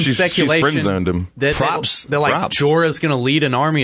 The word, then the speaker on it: Jorah: Jorah.